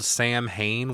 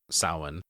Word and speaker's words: Samhain: the tone for old Sam Hain. What the fuck, man? Come on, dude. It's rather rude, isn't it? Well, the fact that everybody, or, you know, some people mispronounce Samhain as Sam Hain, including fucking Loomis, speaking of Halloween.